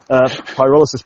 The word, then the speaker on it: Pyrolysis: whole other world of pyrolysis pronunciation. In Germany, they pronounce the Y, they pronounce it as U. Yeah. So suddenly we were called Pyrolysis.